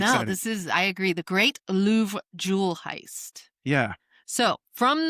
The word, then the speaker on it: Louvre: The Louvre.